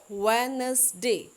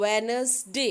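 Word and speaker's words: Wednesday: वेडनेसडे में आपके पास यह दी थी साइलेंट है यह दी हम लिखने लिखेंगे तो जरूर लेकिन बोलने में हम थोड़ा सा इसको कट कर देंगे डब्लू इ डी व ns1 अल्डिव वेनसडे है इधर नेक्स्ट वन इज थर्सडे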